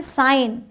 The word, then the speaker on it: sign: अब आते हैं साइलेंट G, SIGN साइन।